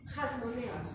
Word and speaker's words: hasmoneos: ¿Cómo se pronuncia? Hasmoneos. Y se escribe así con H.